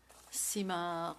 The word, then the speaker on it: Simard: Simard, the D is silent. Otherwise, it seems to imply something else.